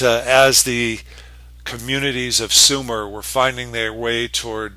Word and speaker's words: Sumer: of Mesopotamia here uh that we call Sumer, pronounced Sumer, uh the southern end of the Tigris and Euphrates River valleys.